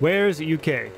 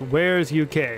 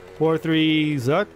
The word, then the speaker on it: War3Zuk: me know in the comments that apparently it's pronounced where's uk now that makes sense oh i was digging there earlier like what which apparently it's pronounced where's uk which makes a lot of sense you know